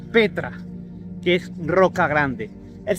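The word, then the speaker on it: πέτρα: piedra es igual es la 4073 que se pronuncia Petra que es roca grande el señor Jesucristo le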